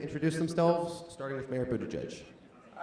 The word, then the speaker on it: Buttigieg: I'm now going to ask each candidate to introduce themselves, starting with Mayor Buttigieg. All right, guys, so my name is I'm the former mayor of South Bend, Indiana. I'm Pete Buttigieg.